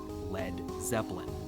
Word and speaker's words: Led Zeppelin: He removed the A so it wouldn't be pronounced lead. And that's where we got Led Zeppelin.